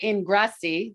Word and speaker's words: Ingrasci: of work liberated and i'm here with marissa ingrassi did i say it right you did of